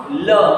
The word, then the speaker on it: le: So a needs to be pronounced. So we pronounce le.